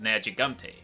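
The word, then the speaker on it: Nergigante: once again, very similar, they just dropped the U as is common in Japanese pronunciation anyway, so in the West, the name for your flagship monster is actually just Neru Gigante, so kind of easier to say.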